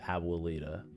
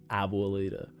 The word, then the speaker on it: abuelita: drives me insane is when people say abuelita. Abolita. Abuelita. Abua. It's one of the easier words in Spanish to pronounce.